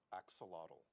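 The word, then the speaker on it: axolotl: We're all going to learn how to say axelottle. Yeah, I probably I probably said it wrong, but I No, I think you got it right.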